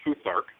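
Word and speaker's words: Futhark: Um actually they it's pronounced foothark and it what it's derived from is the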